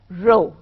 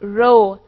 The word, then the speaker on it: rho: Rather, it is denoted by the Greek letter rho. नहीं, रोने धोने की बात नहीं हो रही. It is a Greek letter जिसको हम rho pronounce करते हैं, और अगर आप उसे स्पेल